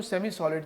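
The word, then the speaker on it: Psalms: के अंदर book of साम्स बोलते हैं पी साइलेंट है तो पी एस ए एल एम S book of साम्स बोलते हैं अल्लाह ताला ने अपना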